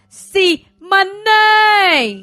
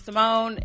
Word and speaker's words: Simoné: with another episode with c monet that's not how you pronounce it but give it to somebody my name is simone if you've watched a